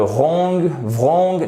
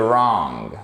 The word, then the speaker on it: wrong: Attention, on ne dit pas to the wrong, non, to the wrong. You do not pronounce the W here.